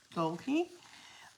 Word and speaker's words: Dalke: Her surname is spelled D-A-L-K-E, Dalkey.